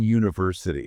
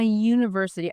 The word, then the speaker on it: university: It's not university, it's university. It's a Y sound like yellow.